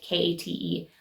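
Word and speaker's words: Ckite: t e I don't even know if it's pronounced Kate like k a t e but it is Kate and they sell women's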